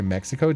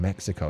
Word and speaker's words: Mexico: That's why we say Mexico different in Spanish and in English. Yay. Oh, I didn't even think about that. Make a Oh, the X in Mexico is an H sound.